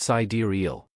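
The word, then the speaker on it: Sideræl: The final portion of the name, Sidural, carried its own layers of meaning and was pronounced sidariel.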